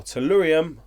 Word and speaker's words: Tellurium: is actually the managing director of solarium or tellurium and that's showing you pronounce it lyrium cue cables and we had